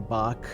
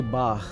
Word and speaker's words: Bach: studying in USA and people were saying Bach instead of Bach. Uh we always say Bach and I think that's closer to the correct pronunciation of the name but every single person I met in USA would say Bach with almost an not exaggerated but very audible K sound.